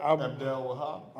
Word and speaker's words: Abdel Wahab: to his opponent, because how do you say that? Abdel Wahab. Abdel Wahab, thank you, Utica.